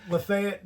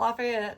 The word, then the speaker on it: LaFayette: Lefayet, Georgia, if you're in the area. Not Lafayette because we're in Georgia and we they say it wrong. It's Yeah, they say Lay.